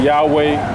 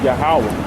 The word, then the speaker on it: Yahawah: The exact way you pronounce it. Yahawah. Yeah, they say Yahweh, they say Yahuwah, they say all, but the correct way is Yahawah.